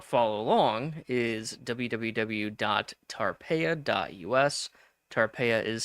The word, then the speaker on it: Tarpeia: Tarpea is spelled t a r p e i a.us.